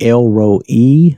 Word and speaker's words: El Roi: is Elroy and I'm saying it it's really L row e I'm sorry I always have a tendency to say Roy but it's really l rho e the way